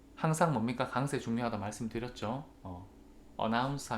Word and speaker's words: announce: announce 하면 두 번째 second syllable 강세고요.